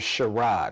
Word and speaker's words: Sherrod: Now, how you pronounce my name is Sherrod, right? Hmm. But when I got in trouble, it's like Sherrard.